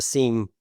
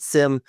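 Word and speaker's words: SIEM: right uh Noel mentioned a seam or some pronounce it Sim uh Sim or seam connector uh you know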